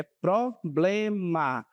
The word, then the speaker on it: problema: A pronúncia é problema de acordo com a norma, certo? Então observem que não temos um R na sí br, né? Nós temos um L.